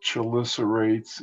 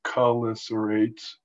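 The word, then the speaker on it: chelicerates: from my buddies at csu that i've been pronouncing this word wrong my whole career it's not chilisa rates it's color serrates cholicerates uh involves some extinct sea spiders and you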